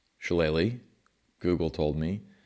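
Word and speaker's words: shillelagh: Okay, first of all, this is pronounced challe. Google told me shalle is a Gaelic English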